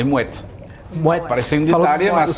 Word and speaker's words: Moët: Não, é Moët. Moët. Parece um detalhe, mas só essa diferença de pronunciar o T final faz a diferença.